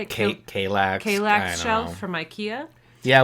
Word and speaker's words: Kallax: we tell them like the structure is the Killax, is that how you say it? Kallax.